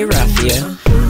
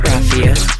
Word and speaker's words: RaFia: to what I say, Rafia. Don't put the emphasis on the A, put it on the I, let it terminate, Rafia. Who got big bar success and the card CV, go hard, Rafia.